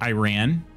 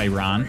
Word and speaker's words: Iran: In England, we say it like Iran, not Iran. Oh, okay. Yeah, I think it's the... The true pronunciation is Iran.